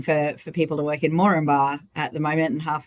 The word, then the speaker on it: Moranbah: Looking for people to work in Moranbah at the moment, and half of us don't even know how to pronounce it, let alone where it is.